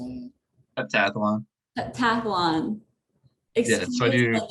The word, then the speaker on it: heptathlon: Heptathlon.